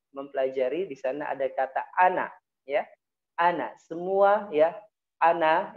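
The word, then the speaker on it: أنا: Nah, bacanya ingat ana, tidak boleh ane, ana'a, gitu ya.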